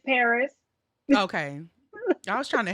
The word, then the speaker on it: Perez: It's not Perez? Why so many R's in it then? It's Paris.